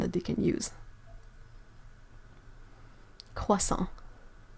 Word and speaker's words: croissant: It's really difficult because there are quite a good solid distinction in between French pronunciation and English pronunciation. So it's really difficult sometimes to find a similar sound in English to say, like the croix part of croissant.